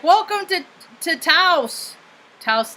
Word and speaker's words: Taos: like welcome to taos taos like house because i always say i'd say teops but it's not pronounced